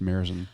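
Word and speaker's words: Märzen: so they had five spelled marzin I don't know tomato pronounced Mirren it's delicious delicious delicious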